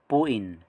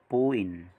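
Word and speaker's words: 부인: Pero pag nasa gitna po ng dalawang vowels, naging B po ang sound. B, as in boy.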